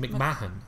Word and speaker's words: McMahon: McMahon, I think. I thought the H is silent.